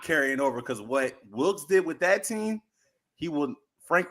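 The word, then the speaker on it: Wilks: You know, you got rid of, you know, Willis last year. Did I say his name right? Wilkes. Yeah. Wilkes. I'm sorry.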